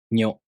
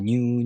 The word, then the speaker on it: nyu: To pronounce Nyo, the tongue moves from the ni consonant to the o vowel. Nyo. If you have trouble pronouncing Nya Nyu Nyo in this way,